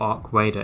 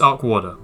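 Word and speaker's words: Arcwarder: It's either Arc Warder or Arc Wader. It's Arc Warder, right? Arc Warder. That's what I'm going to say for this video.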